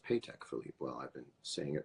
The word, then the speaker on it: Patek Philippe: Awards as a mirror world's most baller mirror pay tech Philippe is that true it's pronounced paycheck Philippe well I've been seeing